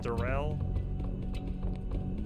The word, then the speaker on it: Daryl: thinking that one it's my name is Darrell it's spelled Daryl but pronounced Durrell and the other one